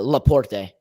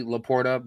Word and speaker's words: Laporte: Evan, how did you pronounce that defender's name from Spain? Spain, which defender? Laporte. How did Laporte. Yeah. Just so you know, it will always be Laporta due to former Cleveland Guardians / Indians, Matt Laporta.